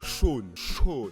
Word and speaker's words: Sean: Ça se prononce avec un O. Sean.